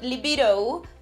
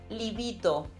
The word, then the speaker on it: libido: Remember the D sound, it's a bit hard, like in dentist. So not libido, but libido.